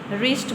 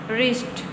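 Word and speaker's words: wrist: अब इसमें भी हमने डब्ल्यू की आवाज को नहीं बोला। ठीक है? इसकी साउंड को प्रोनाउंस नहीं किया। हमने रिस्ट बोला है।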